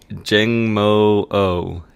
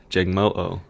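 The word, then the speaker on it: Jangmo-o: name uh what J jangmo Jang moo Jang moo Jang no it's Jang say it like you're in the Hawaiian accent yeah um so this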